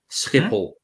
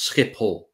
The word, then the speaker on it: Schiphol: Schiphol. C'est comme ça que ça se prononce. Schiphol.